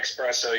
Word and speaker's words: espresso: Dude, if you're if you're taking an espresso, you might as well just drink a caffeine cup. Exactly. Mohan, you're smart enough to know that it's spelled E SS, not ex.